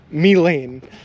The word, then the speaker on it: Milan: how do you say how do you see m-i-l-a-n and say that's pronounced me Lane like what that didn't